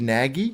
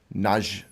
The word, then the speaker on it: Nagy: His name is Richard Nagy. He's from Hungary, but they said it's like Naj or something.